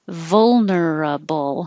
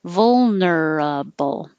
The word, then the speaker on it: vulnerable: are most vulnerable and vulnerable has a lot of movement between vol so between the l and the n don't move your tongue vol vulnerable and what was another